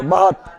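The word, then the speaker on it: Baht: मुद्रा बहात ना बहात भाट बहट भी मिलेगा ठीक है ना देखो यहां यहां साइलेंट हो जाता है ठीक है ना कहां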